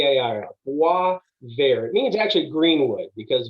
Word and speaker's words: Boisvert: or college uh but i'm going to phonetically spell it for you so it's b w a v a ir wah ver it means actually greenwood because bear is green